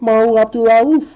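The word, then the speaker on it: Mahmoud Abdul-Rauf: For the Denver Nuggets, Mahu Abdul-Rauf. Yeah, I said it right. Mahu Abdul-Rauf.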